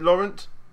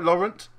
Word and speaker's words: Laurent: Is it Laurent? yeah. Laurent. Is that right, Laurent? Without the T at the end. Oh, Lauren. Lauren. Yeah. Lauren.